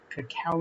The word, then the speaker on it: cacao: was saying the ingredients i mispronounced cacao nibs as cocoa nibs i have a tendency